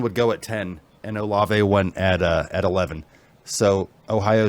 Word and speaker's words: Olave: Is it Olave?